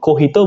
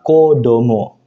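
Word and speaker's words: 子供: Kemudian contoh yang keempat, nah ini juga spesial minasang, ketika kanji kecil ditambah kanji hito, itu dibacanya bukan ohito, kohito bukan minasang, tapi dibacanya spesial kodomo.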